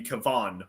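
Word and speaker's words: Kevan: we to be fair his name in the book is spelled with an a not an i yeah it's k-e-v-a-n so technically it should be kavan but yeah you could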